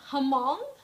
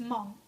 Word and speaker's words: Hmong: Hmong, a lot of people pronounce it Hmong, but it's not Hmong. The H is silent. It's just Hmong.